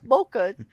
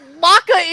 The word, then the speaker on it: mocha: her record like me okay but come on Mocha like yeah exactly coming at me for my mocker uh well Maca is just so I'm sorry I'll put a